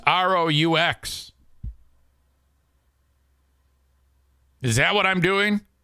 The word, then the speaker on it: roux: how to say that word how do you pronounce r-o-u-x is that what I'm doing I don't know